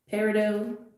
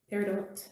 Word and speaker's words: peridot: that just came out i'll just show you peridot peridot however you prefer to pronounce that also known as olivine um it's